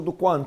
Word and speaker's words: Duquarne: Duquarne, yeah. Sorry, I pronounced your name wrong.